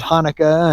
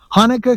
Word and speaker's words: Hanukkah: So, and of course, you know, for the others, you know, we there's Hanukkah and Hanukkah. Kaneka. There's two different pronunciations.